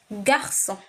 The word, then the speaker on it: garçon: So it is read as garçon. Garçon. You have to write it well though. It has an N at the end, but you don't pronounce it.